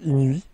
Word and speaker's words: Eenuee: Vu que c'est de e, ça se prononce i. Donc inui, je dirais.